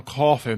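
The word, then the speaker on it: Coffey: "John Coffee, ma'am. Like the drink, not spelled the same."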